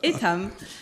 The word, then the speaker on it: Etam: business is uh so you are pronouncing it in the right way actually the French way it's itam uh we are part